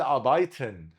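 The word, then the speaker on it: arbeiten: زي مثال فعل ابايتن. ابايتن الار هنا مش هتتقطع عشان وراه ساكن.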